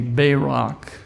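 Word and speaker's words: בָּרַךְ: The Hebrew word for blessed, if you look at the definition in Strong's 1288, it's spelled B-A-W-R-A-K, Barak, and it means to kneel.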